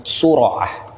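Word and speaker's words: الصرعة: Was-sur'ah, yang dimaksud dengan as-sur'ah itu bi dhammis shadi wa fathir ra, dengan mendommahkan huruf shad dan memfathahkan ra. Jadi bacanya sur'ah.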